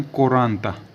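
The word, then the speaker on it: quaranta: 39 को क्या बोलेंगे न 40 को बोले कोराता 40 को क्या बोले कोराता क यू ए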